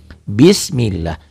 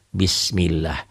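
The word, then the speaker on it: بسم الله: sama ya begini-begini juga bis millah tulisan dan bacaan sama berbunyi a tidak berbunyi o jangan bismillah tapi Bismillah yang bawah sama aja yang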